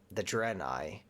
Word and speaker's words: Draenei: I feel like I keep saying their name wrong, but it's the Draenei.